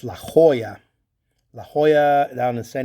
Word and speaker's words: La Jolla: people have been sending out to xadris in la jalla or as we pronounce it it's been la jolla it's la jolla la jolla down to san diego county part